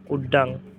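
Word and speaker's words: udang: শব্দটা তারা এইভাবে উচ্চারণ করে উড্ডাং।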